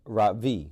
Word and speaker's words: Ravi: first name is ravi is pronounced rav v with a soft raw and a strong v in sand skirt it means the sun in america people call me ravi with the stress on the first syllable that doesn't mean